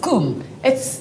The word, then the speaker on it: Kum: Your surname is Kum. I'm married to an Afrikaans guy. Not Kam, please, no.